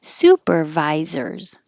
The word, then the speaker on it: supervisor: combination it's like lists supervisor and the vi is second secondary stress here supervisors this x is a